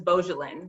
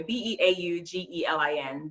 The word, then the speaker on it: Beaugelin: And Beau, most people are familiar, the person that you love, but this is Beaugelin, but it's spelled the same way, Beaugelin, Dr.Beaugelin.